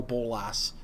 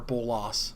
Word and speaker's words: Bolas: again, there's this dragon called Nicol Bolas, or Bolas, depending on who you ask for the pronunciation.